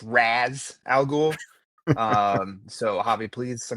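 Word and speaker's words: Ra's al Ghul: Well, first I want to correct you yet again because I I do believe it's pronounced Raz Al Ghoul.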